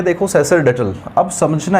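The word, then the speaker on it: sacerdotal: अब समझना, इसमें सैक्र ना होकर इसका जो प्रोनाउंसिएशन होगा वो सैसर होगा। क्या होगा, सैसरडेटल, सैसरडेटल। सैसरडेटल जो शब्द, इसका जो प्रोनाउंसिएशन है वो क्या है, वो मैंने आपको लिख दिया है।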